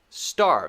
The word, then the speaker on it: starve: really quickly starve starve starve so here we have an r sound and a v sound arv arv starve it's one syllable starve not starve clearly it's still one syllable but we do have